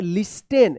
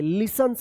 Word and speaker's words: listens: Seats near the shop, the student LISTENS licence, licence पढ़ेंगे, licence उच्चारण होता है इसका, लिसेंस LISTENS, इसको आप पढ़ते होंगे लिस्टेन, लिस्टेन नहीं होगा, यहाँ पे टी जो है ना साइलेंट होता है, लिसन्स होता है, लिसन to music DAILY daily.